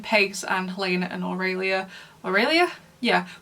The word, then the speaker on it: Aurelia: Aurelia? Yeah, which I think is pronounced the same way as Colin Firth's love interest in Love Actually.